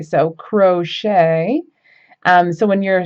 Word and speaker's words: crochet: So when you say crochet correctly, not like crotchet, which I have heard some friends say, um, that ch at the end is pronounced shay. So crochet.